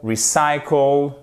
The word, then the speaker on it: recycle: nom complet c'est recycle recycle mettez bien ici l'accentonique sur la deè syllabe du mot ensuite le panneau de